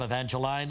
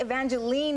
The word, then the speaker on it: Evangeline: think it's you know I think Evangeline is more a Canadian expression or pronunciation of the name because here everyone wants to call me Evangeline what do you prefer